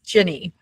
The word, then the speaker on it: Gini: It's Jenny.